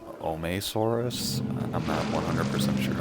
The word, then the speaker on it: Omeisaurus: soros with a sauropod called ohmae soros pronounced that but I'm just gonna be saying I'm a soros basically this was another